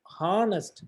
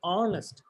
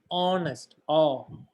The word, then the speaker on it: honest: H is not a vowel, but when we have to pronounce this word, we shouldn't pronounce honest. We have to say honest. The H is silent.